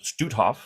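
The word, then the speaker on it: Stoothoff: everybody yes excellent um eric studof uh it's pronounced stutthof was our special guest the office of the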